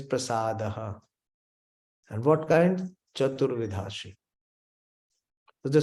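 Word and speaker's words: प्रसादः: we say bhagavata foreign it is not Bhagavad Prasad is wrong 99.9 percent they pronounce and sing along it is prasadaha and what kind so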